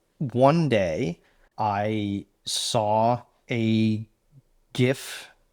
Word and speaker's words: GIF: Uh until one day I saw a gif, yes, I pronounce it with a hard G on on Twitter at the time, the artist formerly known as Twitter of what would become Dusk.